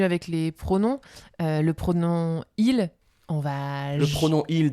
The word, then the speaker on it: il: Donc en fait, quand on parle vite, on dit i et pas il. On supprime le L.